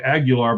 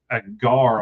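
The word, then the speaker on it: Aguiar: I always want to say Aguilar, but I don't think that's how it's Agar. I think is how it's pronounced.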